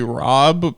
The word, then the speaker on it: RHOBH: Well, I guess since it's Beverly Hills, because it's Beverly Hills, it might just be Rob. The H is silent, which might, because it's Beverly Hills, might be brand specific.